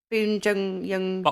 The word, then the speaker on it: Bong Joon-ho: And it's directed by him who did Parasite, whose name I can never pronounce. Bong Joon-ho.